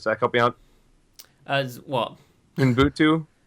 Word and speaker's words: Ubuntu: Sorry, how do you pronounce this, Zach? Help me out. What? Ubuntu. Ubuntu.